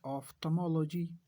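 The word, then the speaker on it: ophthalmology: ये कहलाता है ऑफ्थल्मोलॉजी। इसमें जो एक एल है ये साइलेंट है।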